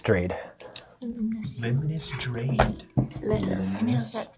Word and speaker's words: Limnus: Um, he'll say, "My name is Limnus Drade." Limnus. Limnus. Drade. Limus. That's spelled.